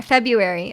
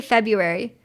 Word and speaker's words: February: sends me off February I don't think we say the r February I think people just say February no one says February